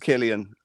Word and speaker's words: Cillian: Definitely pronounced Killian. As a result, stars Cillian